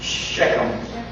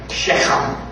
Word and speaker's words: Shechem: And the Hebrew language, they never had phlegm build up because of their accent, the way they speak. So they would probably pronounce that something like Shechem. They had to spit after that.